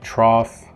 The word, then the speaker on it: trough: only gh number one gh number two is pronounced like f like trough that's the american pronunciation